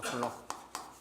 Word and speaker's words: 쿨롱: 문자로 나타낼 때는 Q라고 나타내고 단위는 C라고 적고 쿨롱이라고 읽어요. 쿨롱.